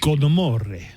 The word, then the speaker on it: Con Amor: Okay, people are really, really just not liking your pronunciation of that. Can you just do it like Con Amore?